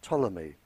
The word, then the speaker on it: Ptolemy: In 64 BC, a Greek living in Egypt by the name of Ptolemy, spelled with a P, he, a very famous scientist, and his work is still used today.